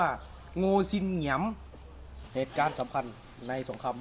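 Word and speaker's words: Ngô Đình Diệm: การ ลอบ สังหาร ประธานาธิบดี โง ดิน เดียม รือ ใน ภาษา เวียดนาม ชื่อ ประธานาธิบดี คน นี้ จะ อ่าน ว่า โง ซิน เหงียม เหตุ การณ์ สำคัญ ใน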